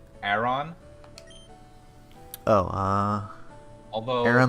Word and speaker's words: Aron: I'd probably say it like Aron. Oh, Although Aaron like Aaron? Yeah. Aron. No, the way it's supposed to be said, the name is Aaron.